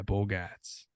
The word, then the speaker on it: Bogaerts: Is that how they pronounce his name in Boston? Yeah, Bogaerts.